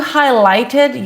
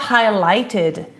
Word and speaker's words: highlighted: This is where we pronounce the ed.